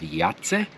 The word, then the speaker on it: Jajce: We're close to town, which we're going to go check out the town of Yats. Hopefully I'm saying that right. It's spelled J A J C E. Nothing like what you're supposed to say.